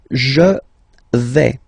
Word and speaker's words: je vais: The first form is je vais. Okay, so remember, final S not pronounced here. Je vais. Okay, when you combine this A, I, you get the sound E, really open.